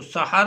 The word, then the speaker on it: سحر: تو پہلا لفظ ہے سحر، سین اور ہے کے اوپر زبر ہے اور رے جو ہے یہ ساکن ہے، تو سحر اس کا تلفظ ہوگا،